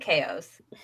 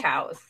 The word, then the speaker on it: Chao: So my best friend and I always called it Chaos, not Chows. I was told it's Chow, and then there's Chaos. Well, it's like Chaos Emerald, or when Shadow says Chaos Control, but I was told it was called a Chow.